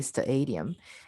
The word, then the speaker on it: stadium: So instead of the adium, which I hear some people say stadium, it's st, right?